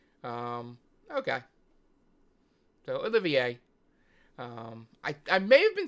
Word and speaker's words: Olivier: I guess I would say Olivier too. Yeah, it's French. Okay. So Olivier.